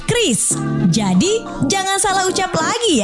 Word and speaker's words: QRIS: Ada yang menyebut QRIS, KIRIS, atau ORIS. Kepala Grup Departemen Kebijakan Sistem Pembayaran DKSPBI, Fitria Irmi Triswati mengungkapkan, pengucapan yang benar adalah KRIS.